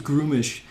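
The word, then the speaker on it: Gruumsh: on yeah exactly so grummish is rubbish grummish is that's how i've always pronounced it i'm sure someone else is going to be like it's groomish fine great no problem um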